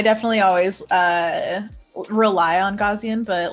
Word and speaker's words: Gaussian: used to use i just learned how to pronounce this it's gaussian blur yeah yeah yeah yeah but then there's